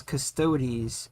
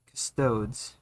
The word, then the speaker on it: Custodes: It is Custodes. It is not Custodes.